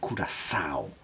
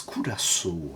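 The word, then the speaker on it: curaçao: mL of dry kurasu lately I've been calling this dry kurasa really Italian but it's kurasu I think the correct pronunciation 50 m of perer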